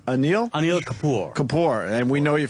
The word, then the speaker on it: Anil Kapoor: Anil Kapoor.